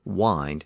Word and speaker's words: wind: Even Shakespeare spoke of the wind that blows outside. And we know that he used that pronunciation because he rhymed it with words like find, mind, unkind, and behind.